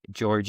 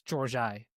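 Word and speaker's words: Georgi: You got the first name right, which most people do not get right. And then it's George I. So close on the last name.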